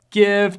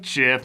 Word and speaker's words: GIF: out in the open gift jiff no nobody says jiff me me me no